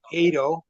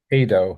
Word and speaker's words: Edo: First name is Ado. Ado like potato. Yeah, that's the way I use it. I tell people it rhymes with potato.